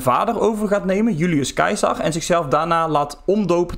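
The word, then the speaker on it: Caesar: de eerste echte Keizer het woord Keizer komt ook van de Latijns uitgesproken naam van Julius Cesar namelijk Julius kaisar en vanaf moment dat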